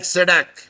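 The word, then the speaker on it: SADC: acronym of initialism initialism we are not pronouncing s a u t now we are saying South like sadak and hence it is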